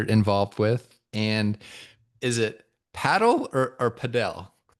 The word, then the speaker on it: padel: The correct pronunciation is paddle.